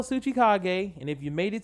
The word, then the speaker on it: Tsuchikage: a t though uh even the t is silent so yeah just go look up how you spell suchikage and if you made